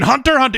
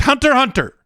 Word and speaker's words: Hunter x Hunter: In Hunter x Hunter, it is just Hunter x Hunter. The X is silent.